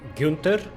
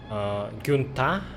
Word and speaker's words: Gunther: His name was pronounced by different characters like Gunther, Gunta, and Gunte.